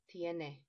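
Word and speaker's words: tiene: has she has ande please remember the letter e is always pronounced so this word is TNA TNA by the way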